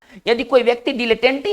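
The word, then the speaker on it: dilettante: देखिए हमारा जो नेक्स्ट वर्ड है वो एक बहुत अच्छा वर्ड है, इसको पढ़ेंगे डाइलेटेंटी, है ना, इसको पढ़ेंगे डीले, इसका ना डाई नहीं पढ़ेंगे, इसको पढ़ेंगे डिलेटेंटी, ठीक है ना।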